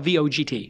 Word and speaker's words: Vogt: But it's spelled V-O-G-T. That's right. But it's pronounced Vogt.